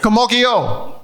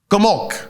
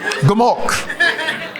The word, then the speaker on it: Gumok: Kamoki Yo. Yeah, but it's like 2 syllables, not 3 syllables. It's 2 syllables, not 3 syllables. You say it. Gumok. Yeah. Gumokyo. Gumok. It's Gumok.